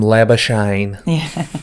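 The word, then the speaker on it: Labuschagne: it's like the cricketer, his name is Labisknney, but they call him Lebashine. Man, it's Lebashine.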